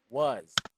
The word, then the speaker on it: was: was okay sometimes yeah it's okay to say cross with an S sometimes it is even exaggerated to the point that it doesn't sound s anymore it sounds like Z was okay so but yeah